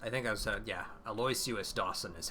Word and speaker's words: Aloysius: Aloysius Dawson is how they've been pronouncing it.